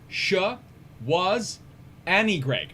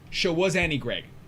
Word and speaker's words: Schwarzenegger: And Matthew in chat, it's Shawaz-Annie Greg. Thank you. Arnold Shawaz-Annie Greg. The Terminator himself, Arnold Shawaz-Annie Greg. We've been saying it wrong the whole time, like Dr.